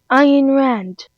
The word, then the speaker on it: Ayn Rand: Ayn Rand.